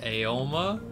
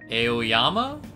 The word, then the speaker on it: Aoyama: The school you're attending is in the Aoma? There's more syllables there. Aoyama?